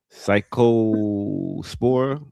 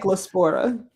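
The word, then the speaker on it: Cyclospora: Psycho Spora. Psychospora. We'll go with that. Cycllospora.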